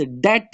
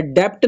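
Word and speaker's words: debt: है जी हमारे पास ये लव्ज डेट है डेप्ट नहीं पढ़ते इसको डेट यहां पे भी बी जो है ना वो साइलेंट है आपका उसके बाद है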